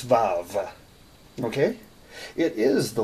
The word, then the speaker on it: vav: this is Vav some people spell it VA you but there's no you it's valve okay it is the